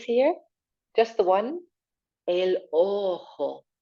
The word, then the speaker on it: ojo: Up on our face here, just the one, el ojo. Nice hiss sound on the back of your throat. El ojo.